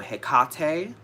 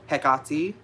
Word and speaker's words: Hecate: either pronounced is either hekate with a strong emphasis as long as you're putting a strong emphasis on the middle syllable so hekate or hekato